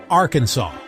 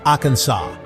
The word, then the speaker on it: Arkansas: natives of those lands, as Arkansas, a name that the French pronounced Arkansas.